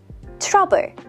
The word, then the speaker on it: 트러블: Trouble. Trouble. That's just the English word trouble pronounced Korean style.